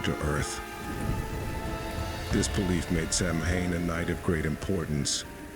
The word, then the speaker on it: Samhain: These people celebrated a festival known as Samhain, pronounced Samhain, which marked the end of the harvest and the beginning of the cold, dark winter.